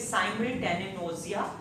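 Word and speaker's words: simultanagnosia: जाता है साइमल टेन G generally सा साइलेंट होता है सो इट is Saim ten nausea which is कि लोग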